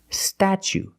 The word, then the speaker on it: statue: so pronunciation statue statue for the first vow we use the short a like black cat sta then we use the CH sound stat statue for the second syllable we use a long o like Boot and moon ooh together St statue this is the Statue